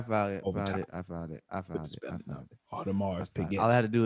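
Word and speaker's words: Audemars: you spell this ap thing okay it is all to mars a-u-d-e-m-a-r-s we gonna put the spelling up all right about it i found it i found it all tomorrow all i had to do is put a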